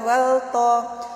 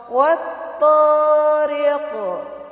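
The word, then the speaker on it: والطارق: Wat-ta, bukan wal-ta. Wat-thariq.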